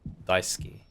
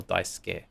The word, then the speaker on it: Daisuke: I was saying Daisuke, but it's more Daisuke. It's an E.